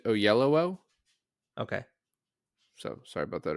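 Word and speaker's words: Oyelowo: and by the way apparently it's pronounced David O Yello okay so sorry about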